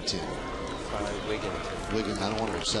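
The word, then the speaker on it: Wigginton: so a lot of people do say Tai wigington but it's Ty wigton Ty wigton wi I don't want to upet people so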